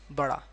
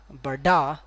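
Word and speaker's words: बड़ा: Another one, bara, right? It's bara, bara, bara. Don't pronounce like bada, neither pronounce like bara, bara, bra.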